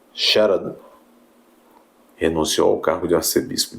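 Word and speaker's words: Scherer: Aliás o Dom Eugênio sh assim que se pronuncia Sher renunciou ao cargo de Arcebispo de São Paulo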